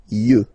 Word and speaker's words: yeux: Un œil, des yeux, okay? Don't pronounce the final X as usual.